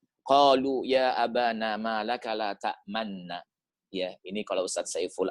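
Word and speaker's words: لَا تَأْمَنَّا: Qalu ya abana ma laka la ta'manna. Ya, ini kalau Ustaz Saiful Anwar mengatakan hukumnya ismam. La ta'manna. Ada manyun gitu ya. Sebenarnya bacanya la ta'manuna.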